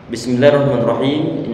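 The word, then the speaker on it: بِسْمِ اللَّهِ الرَّحْمَٰنِ الرَّحِيمِ: Bisa membaca bismillahirrahmanirrahim, huruf sin dia bukan termasuk huruf yang perlu untuk dipantulkan, sehingga jangan dibaca bismillah, jangan, tapi kita alirkan suaranya.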